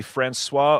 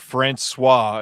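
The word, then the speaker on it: François: We're lucky I said Francois instead of Francois.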